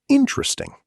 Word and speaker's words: interesting: Many learners pronounce every syllable very clearly. But native speakers often say it more naturally. Interesting. Repeat after us. Interesting.